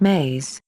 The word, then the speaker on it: me: belief systems which we will call me pronounced ma belief systems and words